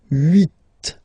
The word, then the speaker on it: huit: Then here, final T is pronounced. So huit, huit. Remember in French, this H letter here, okay, doesn't exist phonetically, so we don't really pronounce it, okay? So if you listen carefully, you will only listen or hear these vowels at the beginning of the word.